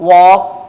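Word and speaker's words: walk: यहां यहां देखिए एल के बाद के आया तो एल क्या है? साइलेंट है। क्या हो जाएगा? योक टॉक वॉक चॉक।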